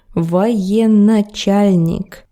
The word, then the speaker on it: Военачальник: But it's not correct. This word is spelled like this. Военачальник. There is no double на there. No. Военачальник.